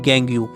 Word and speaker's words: gangue: ये जो सारी चीजें ये सब बोली जाती है गैंग ू गैंग ू इसकी स्पेलिंग है जी ए एन जी यू ई एक तरीके से बस